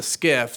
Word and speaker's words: SCIF: We went into the SCIF [sensitive compartmented information facility, pronounced “skiff”], where classified information is discussed, and she talked about the information that Cassidy had come forward with.